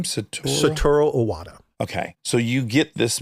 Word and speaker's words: Satoru Iwata: Satoru Iwata.